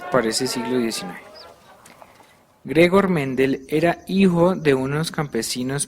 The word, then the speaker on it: Mendel: abadía de santo más d'hebron porque así se pronuncia de puro ladrillo pastos verdes y hermosos paisajes donde el monje austríaco gregor johann mendel ojo a este nombre gregor johan mente nació en 1822 y murió en 1884 fundaría